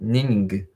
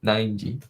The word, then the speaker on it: Nineg: Some people think it's like Ning. It's like, nope, 9G.